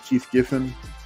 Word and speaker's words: Keith Giffen: So Keith Giffen, I'm saying it right? Keith Giffen.